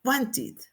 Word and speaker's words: wanted: Como el sonido final es want en T, pues la ID la vamos a pronunciar como it, wanted, wanted. Igual tenemos aquí accept, accept.